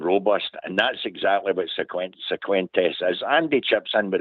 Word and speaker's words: Cifuentes: What I'm impressed with, Old Bear, is the pronunciation of Cifuentes. You're going to get everybody. I'm saying Cifuentes.